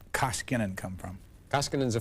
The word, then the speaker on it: Koskinen: country and say it the right way it's koskinen you've been doing well well I'll tell you it's but we've had you on several times it's still it's tough because somehow throw you know mispronounce it and it throws you off it's a Finnish name finish name uh Terry